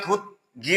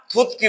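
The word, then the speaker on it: 듣기: তো সাংগিয়কে হচ্ছে ক, এই জন্য এটাকে বলবো থুত কি। থুত গি না, থুত কি মানে হচ্ছে লিসেনিং।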